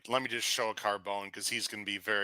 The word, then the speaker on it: Carbone: Are we pronouncing the E? Is it Carbone or not Carbone? It's Carbone. Carbone. is You don't. Yeah, you don't. Depends where you're from.